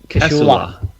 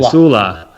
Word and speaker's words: Casula: Thank you, Thomas Craig from Coula. Casula. Casula. And why do people live in these hard to pronounce names?